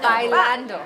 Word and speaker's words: bailando: Bailámo? Anywho, I think that's exactly what you do. How do you say it, dancing in Spanish? Bailámo. Bailámo? Bailando. Bailando? Bailando.